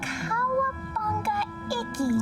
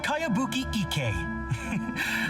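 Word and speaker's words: Kayabuki Ikkei: By Kawabunga Iki. Cowabunga? Yoimiya, this is a really strange name. Who's this Cowabunga? It's pronounced Kayabuki Ike.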